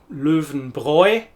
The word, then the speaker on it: Löwenbräu: Well, here we have an umlaut and it makes a very different sound to our diphthong. It's Löwenbräu. In the brewery, in the Brauerei, they make Löwenbräu.